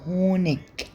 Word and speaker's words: Honig: بيقول ان الاي جي اللي هي اي جي بتتنطق في اخر الكلام زيتسها شين فيها هوا شين خفيفه لكن جنوب المانيا بينطقوها اج تمام هونش هونش هونش هونش تمام